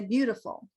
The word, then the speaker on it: beautiful: view beautiful d beautiful that's because these middle t's are sometimes sound like a d we have six ways we say t it's called a flap tea butter beautiful it's very it's more